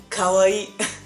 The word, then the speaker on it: kawaii: uh scary in japanese so it's better to pronounce it it's three syllables i know i know